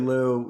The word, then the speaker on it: Liu: But one of the things I remember you talking about at the Harvard bookstore talk, and I can't pronounce the gentleman's last name. Is it Lu? David Liu, yeah, he's a Harvard geneticist, yeah.